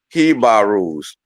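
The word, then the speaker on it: jíbaros: right with the pronunciation you say h right but you write it with a J it's it's it's Spanish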